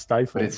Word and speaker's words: Stifel: It's spelled and should be pronounced stifle.